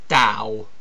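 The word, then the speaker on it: Tao: Yeah, I know it's spelt T-A-O, but it's actually pronounced Dao. Because, you know, language.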